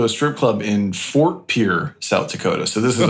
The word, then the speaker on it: Pierre: First of all, isn't it Pierre? Isn't that how you say it? No, the people who live there call it Pierre.